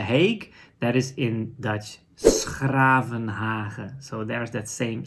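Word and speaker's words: 's-Gravenhage: That is in Dutch, Schravenhagen. So there's that same sound again. This time the sound is not spelled with a CH, but with a G, right? So that is the same sound.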